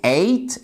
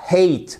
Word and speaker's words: ate: c'est un verbe irrégulier la forme passée c'est eight et non pas hate parce que si vous